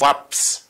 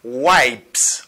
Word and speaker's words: wipes: So, moun yo souvent prononce, people usually pronounce it as waps. Moun yo souvent dit waps for the noun. M'a parlé de nom. Waps. Est-ce que c'est comme ça le prononcer? Non, il pas prononcé comme ça, il prononcé comme wipes.